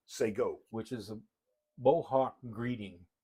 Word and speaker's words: Shekon: Shé is actually pronounced say go. Say go.